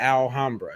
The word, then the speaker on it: Alhambra: We called it the L, but it's really the Alhambra. That's how it's Mm-hmm. pronounced. But we call it the Alhammer. That's how we say it, and we Mm-hmm. call it the L.